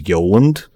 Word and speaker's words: Yoland: This is Yoland. He's supposed to have an antenna on the bottom. He's like a brown UFO shape. And his name is spelled like Yo Land.